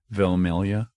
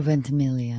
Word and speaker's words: Ventimiglia: I can't pronounce the second one's name, but it's Vilmilia. Is that what it was? Oh, Ventimiglia. Ventimiglia.